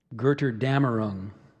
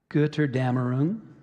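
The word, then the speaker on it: Götterdämmerung: for last gerter damarung so that's the main pronunciation gerter Dameron we also have a second I haven't seen that symbol before excuse me it's a new one goodter damaroon getter damaroon got her Dameron girter dammer rune and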